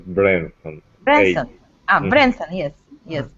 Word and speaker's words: Branson: do you know Richard Bronson Richard Bronson you not oh yes ok maybe missional I know there's no here hehe usual pronounced Richard Branson hey I'm Branson yes